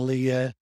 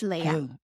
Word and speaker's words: Leah: Kris is a 26-year-old proud mom of two amazing little ones, Luke, age 3, and Leah, age 1. It's Leah. Leah, age 1.